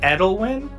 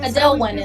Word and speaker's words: Adelwin: Um and why from there we will move to uh little Suski and Ed Edelwin I'm assuming Adelwin is how you pronounce it does not answer to that name unless she's in trouble.